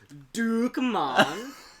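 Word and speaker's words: Dukkemann: also known as Dukemon. That's how it's pronounced.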